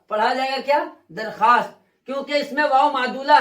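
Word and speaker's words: درخواست: जिसको एप्लीकेशन भी कहते हैं, आवेदन भी कहते हैं, दरख्वास्त लिखा जाएगा मगर पढ़ा नहीं जाएगा। पढ़ा जाएगा क्या? दरखास्त, क्योंकि इसमें वाव मादुला है।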